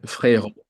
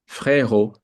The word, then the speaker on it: frérot: Frérot, which is like bro. Fair. Frérot, Oh, like fair.